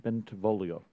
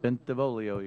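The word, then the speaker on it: Bentivolio: you miss clark mr bentavolio and am i getting close and pronouncing it right you did it perfect wow ben devolio you got to sing it when you say it you'd never want me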